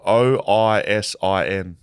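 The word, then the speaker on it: Oisín: Well, his is spelled OISIN. Oisin. I think it's Ocean.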